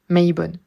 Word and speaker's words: Mabon: Donc, pour cet équinoxe d'automne, pour cette fête de Mabon, aussi prononcée Mabon, Maybon.